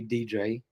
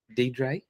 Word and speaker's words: Dedre: I'm sorry. I mispronounc mispronounced somebody's name. I want to make sure I got it right. Okay. Yep, I did.